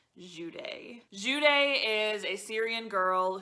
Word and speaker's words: Jude: her name is spelled j-u-d-e however i did listen to this book almost entirely on audiobook and from the audiobook i learned that her name is not pronounced jude it is actually pronounced juday juday is a syrian